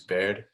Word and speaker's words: Baird: to know about me my name is baird rhymes with scared it's not how i